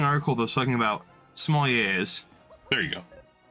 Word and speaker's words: sommelier: Right, but you pronounce the R, you're not supposed to. When it's plural, you do. The R, it's a French word. Right. The last consonant is silent unless it's pluralized in the English language.